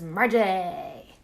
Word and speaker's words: Margie: I learned that the proper way to pronounce Cam's mom's name is Margie.